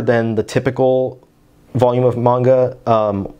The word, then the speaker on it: manga: They're larger than the typical volume of manga, or manga, however you prefer to pronounce it. I know it's supposed to be manga.